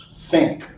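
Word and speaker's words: senk: Creole that will be sink. Sink, like you pronounce it basically like a sink, right? A sink in your bathroom.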